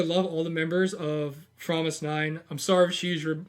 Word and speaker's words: fromis_9: actually pronounce it this way too or it's pronounced korean is promise nine yeah um and it actually was from the